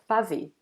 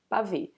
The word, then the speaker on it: pavê: Then people normally eat this first A, they say pra ver, pra ver. And as you can see, we don't really pronounce this R. And some people even eat this R. So it's exactly what we see in here, the name of the dessert, pavê, pavê.